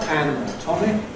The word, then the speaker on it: anatomic: And then various other stress rules cause the secondary stress on the fist syllables, so we have some degree of stress on the /æn/ and /tɒm/, but not on the /ə/, /ˌænəˈtɒmɪk/.